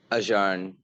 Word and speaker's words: Ajahn: How do you pronounce it? Ajahn? Ajahn.